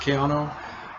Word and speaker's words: Caiano: with the director of mario caiano how is pronounced kiano who is the director of nightmare castle and